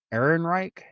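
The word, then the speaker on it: Ehrenreich: Aaron Reich.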